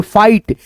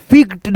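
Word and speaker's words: fight: के बाद जीएसटी है तो कैसे पढ़ोगे दोस्तों तो यहां पे जैसे एफ आई जी एसटी है तो इसको जो है ना आप क्या पढ़ोगे? फाइट जैसे लाइट राइट ऐसे करके जैसे यहां पे एफ आई जी एच टी फिक्ड नहीं पढ़ोगे जैसे लिग्ड नहीं पढ़ोगे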